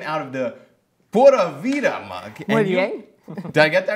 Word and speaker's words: Pura Vida: Am I pronouncing that right? Sí, Pura Vida, right.